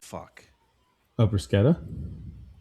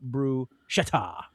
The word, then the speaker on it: bruschetta: Three syllables Italian. Uh the double C is hard, not bru-schet-ta, nor bru-sha-ta.